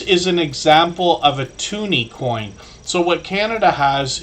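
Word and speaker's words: toonie: came out they just call that a tuny because it's $2 um to rhyme with the the Looney I guess so anyway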